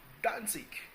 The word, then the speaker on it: Danzig: Whereas Danzig, you have the DAN, TZ, and IG, Danzig. Obviously, the G is pronounced kind of like a K because it's a German word, so it comes off as a hard, very hard G.